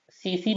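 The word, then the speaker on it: tsetse: गलत ना कर देना स्पेलिंग से पता नहीं चलता इसमें टी होता है और ये साइलेंट होता है ठीक है सीसी मक्खी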